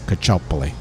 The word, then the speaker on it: Caccioppoli: name when you know anybody who's italian would pronounce it as cachopoly well welcome to bond